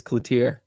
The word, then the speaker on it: Cloutier: Watts said he corrected it's Cloutier. Cloutier. I like that a lot better. Right. He said at some point in his soccer career, people started pronouncing it the French way.